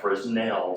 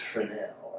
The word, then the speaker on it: Fresnel: don't speak French and it looks like fresnell to me so that's every now and then I'll say that that Fresno lens and people look at me go that's pronounced for now and I said no